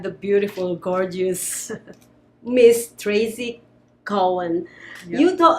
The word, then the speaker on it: Cowan: So my last name is not actually Cowan, it's Cowan. So Cowan. Think of a cow and then Ann.